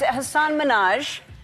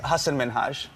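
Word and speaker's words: Hasan Minhaj: And it's Hassan Minaj. Yes. No. Really? Well, my name is Hassan Minhaj.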